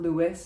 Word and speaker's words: Louis: We don't say the S, it's not Louis, it's just Louis in one syllable.